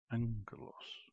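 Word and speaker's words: ἄγγελος: Angelos. Angelos. That ng sound. Ng. More of an ng sound. And it's a hard g.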